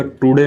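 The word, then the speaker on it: today: तो इसको जो है टुडे नहीं बोला जाता है, इसको बोला जाता है टडे।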